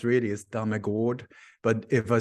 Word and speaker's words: Dammegard: No, because the way it's pronounced really is Dammegard.